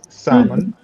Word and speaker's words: salmon: each member in Salman you don't pronounce the L so sama all right so much mashed potatoes salmon okay and what is